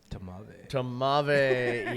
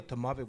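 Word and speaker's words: tmavé: It's called a Tamave, which is spelled T M-A-V-E.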